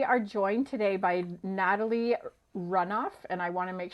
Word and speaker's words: Runof: business so we are joined today by Natalie runoff and I want to make sure am I pronouncing that correctly Natalie or runov everything or runov okay which do you prepare runoff runov runov is how it's originally sound yeah okay there